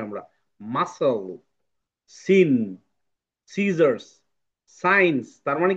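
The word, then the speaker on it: sign: জিটা এখানে সাইলেন্ট হয়েছে। সো আমরা পড়বো সাইন সাইন সাইন ঠিক আছে জি এর উচ্চারণ নাই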